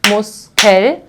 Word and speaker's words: Muskel: So the first syllable ends on S, so I will pronounce it as a sharp S.